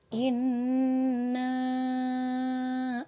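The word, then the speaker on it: إنّا: yang pertama Bismillahirohmanirohim Hai Inna Alto inacl kau shop nah nak anak di ayat yang pertama ada kalimat Inna huruf nun tasydid harus ditekan dan ditemukannya acara membacanya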